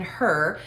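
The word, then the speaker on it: Hur: and moses aaron and her now her is spelled h-u-r okay this is not h-e-r it's not a woman that's there as well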